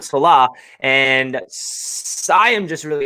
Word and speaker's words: Saleh: pronouncing his name wrong it's not soleil it's salah i actually knew that but i don't know why we're just so excited we're pronouncing his name wrong so it's robert salah and i am just